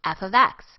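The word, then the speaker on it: f(x): could possibly plug in the F with the X in parentheses is pronounced f of X and refers to the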